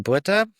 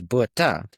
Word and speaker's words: Botha: I'm Johan Botha. That's you, as in me and you. Han, as in honey, I shrunk the kids. And the H is silent, so it's Botha.